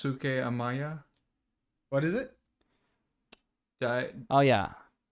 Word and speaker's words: Daisuke Amaya: it's Daisuke Amaya. what is it? Dai, Oh yeah, Yeah. Graham could Dais- probably pronounce it better.